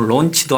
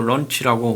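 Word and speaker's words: launch: SLBM을 잠수함 발사 탄도미사일 이걸 뭐 론치도 아니고 라운치도 아니고 런치라고 뭐 발음을 좀 신경 쓰라고 스텝이 신경 쓰라고 누가 댓글에 달았어요.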